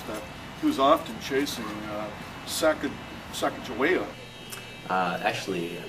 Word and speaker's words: Sacagawea: he was often chasing Sacagawea. Actually, I happen to know the correct pronunciation. It's Sacagawea.